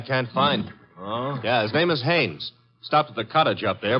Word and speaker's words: Haines: used to fish uh no no not Heinz hain couldn't be hummingbird no it